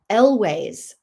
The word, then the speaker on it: Elwes: Elways.